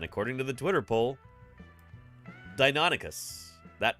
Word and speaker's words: Deinonychus: people voted on this how do you pronounce dinonicus do you say dinonicus or do you say Dino nycus and Deinonychus is the clear winner here um it really doesn't